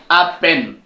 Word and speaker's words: Appen: Deuxième application micro-tâche, Appen. J'ai dit, je prononce ainsi pour vous permettre un peu de saisir le message.